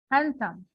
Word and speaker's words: handsome: handsome B is silent handsome delete the D when you're pronouncing it and and the other